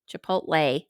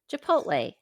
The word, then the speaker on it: Chipotle: walk in chipot chipot Chipotle you can't even say it right chipot even if you try Chipotle there you go I said it I